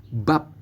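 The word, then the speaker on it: 밥: dengan vokal A dan di akhir diberikan konsonan B juga teman-teman jadi kita membacanya adalah b b a d b p teman-teman karena di bawah ya karena di akhir begitu Jadi kita bacanya P jadi kita membacanya adalah bab bab begitu ya teman-teman ya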